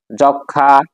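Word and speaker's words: যক্ষ্মা: যেমন বিশ্বয় কুশীল তিন নম্বর হচ্ছে মফালা যুক্ত বর্ণের সাথে আসলে মফালা উচ্চারিত হয় না যেমন যক্ষা লক্ষমীপুর চার নম্বর হচ্ছে মফালা ম গ ম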